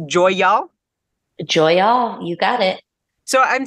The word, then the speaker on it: Joy'All: since on the line it's called is it pronounced Joy y'all you got it so I'm taking that title